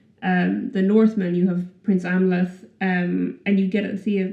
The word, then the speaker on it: Amleth: Simba and, I'm not going to try and pronounce the name. Amleth. Say that again for me one more time. Say it one more time. Amleth.